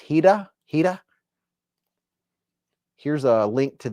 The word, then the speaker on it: Hira: And I believe it's a Japanese word pronounced hidah.